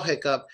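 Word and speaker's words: hiccough: one way to spell Hiccup and this is one of them it is Hiccup and in that case it is up hiccup like up hicup okay so how many do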